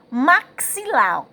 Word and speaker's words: maxilar: Veja só, maxilar, a gente, como se estivesse pronunciando o C e o S.